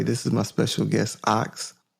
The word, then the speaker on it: Ockz: is my special guest ox is that how you pronounce it is that correct yes all right i first